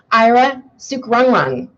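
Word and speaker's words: Ira Sukrungruang: Please welcome Ira Sukrungrung.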